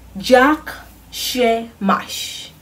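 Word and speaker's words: Jak się masz: doing in their language in Polish you say Jack Shea mush you say yuck that's a job is yuck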